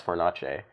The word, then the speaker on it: Fornace: No, it's Fornace. It's like a hard C.